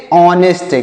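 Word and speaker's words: honest: क्या पढ़ेंगे इसे पढ़ेंगे ऑनेस्ट क्या पढ़ेंगे प्यारे बच्चों इसे पढ़ेंगे ऑनेस्ट इसको नेस्ट नहीं पढ़ना है ऑनेस्ट पढ़ना है क्यों क्योंकि यहां पर जो एच लिखा गया यह साइलेंट है इसको नेस्ट नहीं यहां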